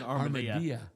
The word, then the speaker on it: armadillo: I guess if it was cooked on a flat top and stuck inside a tortilla, it would be an armadillo. Armadillo. Like a quesadilla. Armadillo, quesadilla.